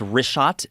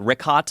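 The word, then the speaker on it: Richat: Yeah, in the first couple, I just want to say it's Rishat. I used to call it Rikhat. I was mispronouncing it.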